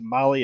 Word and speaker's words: Mahle: of our podcast listeners Molly is spelled mahle I know that's right